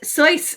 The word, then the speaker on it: Seuss: It's Seuss in It is Seuss. Swiss, Yeah. I thought but you were Dr. Seuss. my pronunciation.